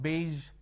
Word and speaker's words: beige: the middle and then we have beige where the sound is in the end now what happens usually